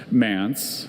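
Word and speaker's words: manse: Mance has just the one pronunciation.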